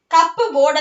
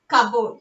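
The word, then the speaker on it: cupboard: കബോർഡ്, കപ്പ് ബോർഡ് എന്നല്ല പറയുന്നത്, കപ്പ് ബോർഡ് എന്നല്ല പറയുന്നത്, എന്താ പറയുന്നത്? കബോർഡ്. Here P ഈസ് silent.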